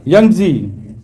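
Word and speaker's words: Yangtze: جی ینگزی، تلفظ صحیح ہے، ینگزی ان چائنا.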